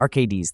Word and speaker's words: Arcades: Overall, ar-kay-deez (pronunce fast, and should be similar to hades, the underworld. Do not hold the deez to long) will only get better with time as new defenders are printed all the time.